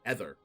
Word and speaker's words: ether: ether e-t-h-e-r and uh i've always pronounced that growing up as a kid ether you found an ether which is very wrong and i didn't know until about three years ago that was actually pronounced ether but i've always